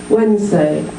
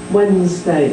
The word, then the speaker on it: Wednesday: there three okay listen to me Wednesday how many syllables two so we've chopped out the Nez Wednesday we've dropped the D